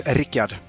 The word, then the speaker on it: Rikard: Uh, it's Ericad. So, it's Swedish.